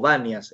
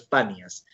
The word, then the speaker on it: Banias: Por eso se llama Panias o Banias en árabe, se pronuncia como B, pero es Panias.